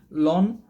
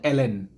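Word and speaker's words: ln: এরপর দেন লন, আসলে এটার উচ্চারণটা হচ্ছে এলএন, এই যে আমরা লন বলি, আসলে লন এটার উচ্চারণটা হচ্ছে এলএন।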